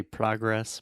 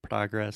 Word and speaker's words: progress: So one quick thing, I say progress. Most Americans say progress, so the same sound as prato chato, but you can also say progress. Okay. It's British, but Mm-hmm.